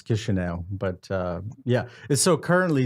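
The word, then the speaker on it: Chișinău: In Russian, it's pronounced Kishinev, and I guess in Romanian, it's Chisinau.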